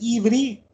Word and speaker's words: Ivri: Und das ist das Ivri, wird es ausgesprochen.